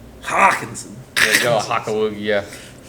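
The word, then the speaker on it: Hockenson: Hawkinson. You didn't say it right. Hawkinson.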